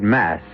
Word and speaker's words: masque: of the Red Death the word mask mask you should know is spelled m s qu e and means masquerade and to begin this particular